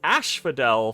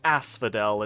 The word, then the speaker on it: Asphodel: watching this series please ignore me saying Ash Fidel for the first probably 10 turns of the game um and imagine me saying Asphodel instead cuz oops ignore